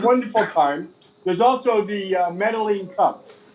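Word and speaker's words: Medellín: In Colombia, it's pronounced double L's as a J. So whereas in Spain or Mexico, it might be called Medellin, here it's called Medellin, and it's the most charming expo in the world.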